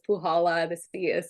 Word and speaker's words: Puchala: and you did pronounce it correctly so it's pujala this fee is silent uh so I'm originally I was born